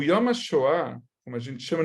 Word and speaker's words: Yom HaShoah: como a gente chama, não é Yom HaShoah, assim falam os americanos. Yom HaShoah, gente, Yom, M, tá? Yom HaShoah, Yad Vashem, a gente pronuncia o M, tá bom? É diferente do N.